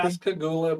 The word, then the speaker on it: Pascagoula: Command at Ingalls Shipyard and how do you pronounce that? Pascagoula, Mississippi? Pascagoula, Mississippi.